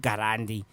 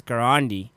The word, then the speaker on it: Garandi: name to be pronounced it's not gandi it's garandi so we've got got